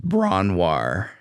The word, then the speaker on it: Bron-Yr-Aur: Was another cottage, I think called Bronwar. But it looks like British name. It looks like, I think it's Welsh. It looks like BRON-YR-AUR. Man. And it's pronounced Bronwar.